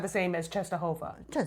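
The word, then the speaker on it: Częstochowa: We say it cheshova.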